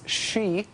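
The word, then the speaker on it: Xe: known as Blackwater Blackwater now goes by the name we like to pronounce she Blackwater she uh is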